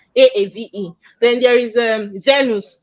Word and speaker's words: Aave: a a v e some people will say it's I've I don't know how people pronounce but it's actually a spirit pronunciation a-aave then there is a